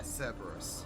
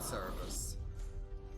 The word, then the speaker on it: Cerberus: Yeah, Cerberus, not Cerebus.